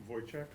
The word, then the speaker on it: Wojcik: Wojciech? Wojciech? Yep. The W is like a V.